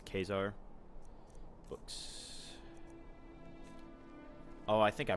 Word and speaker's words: Caesar: Julie Caesar guess a Caesar all that you know all that jazz it's not actually pronounced Caesar it's pronounced um I believe it's pronounced kesar as in like the German Kaiser it's it's kesar books oh I think